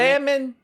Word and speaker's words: salmon: salmon or salmon? Do you pronounce the L in that one too? So I used to pronounce the L. I pronounced the L.